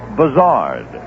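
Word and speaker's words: Buzhardt: philly suddenly announced that he wanted his name pronounced buzzard mr bizzard is out in the yard and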